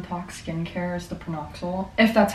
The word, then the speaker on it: PanOxyl: you okay oh wait it's not per knoxal it's panoxyl my bed that's what that is I thought there was an R but this is what